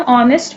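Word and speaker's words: honest: है क्योंकि एच ऑनेस्ट में साइलेंट अल्फाबेट है। जब हम ऑनेस्ट प्रोनाउंस कर रहे हैं तो हम ओ से प्रोनाउंस ओ की साउंड आ रही है।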